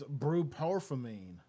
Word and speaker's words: bupropion: You know, if I see an I want to say an I, but it starts with a B. It's bupropion. It's weird.